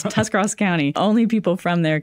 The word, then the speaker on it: Tuscarawas: I can't even pronounce that. So. I know. It's Tuscarawas County.